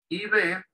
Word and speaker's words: IV: IB, en inglés IB, ¿por qué? Porque la I latina en inglés se pronuncia I, el diptongo A-I, I. Y la B corta se pronuncia V. IV bag.